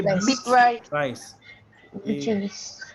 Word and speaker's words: Beatrice: Beatrice. Beatrice, right? Beatrice, not beat rice, huh? Okay. Big rice. Because if you say Rice. beat Beat rice, Beatrice. Beatrice, yeah, it's Beatrice.